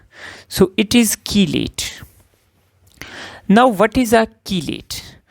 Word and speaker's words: chelate: Now it is pronounced as chelate. So it is chelate.